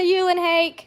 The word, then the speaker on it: Eulenhake: Hi, Eulenhake. Is that how you say it? Yes. Did I get it right? Yes.